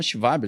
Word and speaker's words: Schwab: Esse termo foi inventado por um cara chamado Klaus, se escreve Schwab, né? Mas em alemão é Schwab, já que ele é alemão.